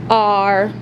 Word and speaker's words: are: all all all are so in this word the e at the end is silent and a and r